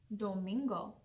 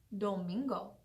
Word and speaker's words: domingo: Sunday in Spanish is domingo. Can you say that? Domingo. Muy bien. Domingo is spelled D-O-M-I-N-G-O. Domingo.